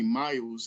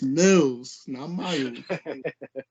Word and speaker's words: Millz: didn't pronounce my name he called me miles and i was like it's mills so it's like i